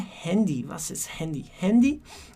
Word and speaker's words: Handy: E a gente fala com essa pronúncia um pouco mais americanizada, porque é uma palavra importada, digamos assim, das Handy.